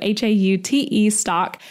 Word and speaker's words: Haute stock: And that is spelled Haute stock. So spelled like haute couture, but pronounced hot. So Haute stock.